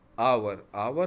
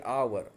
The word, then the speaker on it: hour: Like hour begin with a vowel sound. The first initial consonant H is not pronounced. H is silent. Okay, hour.